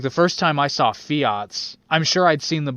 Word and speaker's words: Fiat: Yeah, no, I think the first time I pronounced it was Fiat, but it's Fiat. It's Italiano.